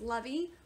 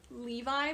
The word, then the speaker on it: Levi: then i refused oh i kept reading his name as levy when it's levi but for some reason